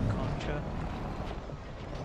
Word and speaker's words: Concha: Some people pronounce it Concha. I like to pronounce it Conca.